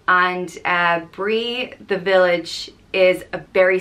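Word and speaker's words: Brí: a vowel and it's both are pronounced the same way just Bree and this one isn't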